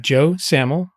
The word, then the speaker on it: Joe Samel: I've got Joe Samel. Did I pronounce that right, Joe?